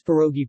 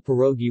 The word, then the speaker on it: pierogi: meaning banquet or festivity the Russian plural pierogi with the stress on the last syllable should not be confused with pierogi stress on O in Polish and English in Polish cuisine which